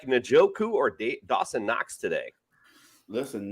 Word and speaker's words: Njoku: So I'm going to go with Njoku.